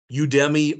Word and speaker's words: Udemy: Udemy or Udemy is the way I pronounce it.